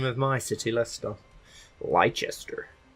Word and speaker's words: Leicester: Let's go to Leicester. Which is how a lot of people say, pronounce the name of my city, Leicester.